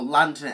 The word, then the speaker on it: RANDnet: And then there was the 64DD RANDnet, or LandNet as it's pronounced, due to the language barrier.